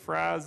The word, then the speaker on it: Fries: f r i s it's a German pronunciation we call it freeze in the winter and Fries in the summer there's quite a few